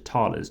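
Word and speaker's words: thalers: get myself 2 money, which is talers down here, which is spelt T-H-A-L-E-R, which is German currency back in the day.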